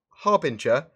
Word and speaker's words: Harbinger: so we got that Harbinger not to be confused with adding another are in there making it hot bring her yes the the r is definitely before the be its harbinger as in